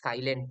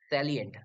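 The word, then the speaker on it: salient: আচ্ছা, এটা কিন্তু সাইলেন্ট নয়, হ্যাঁ, স্যালিয়েন্ট।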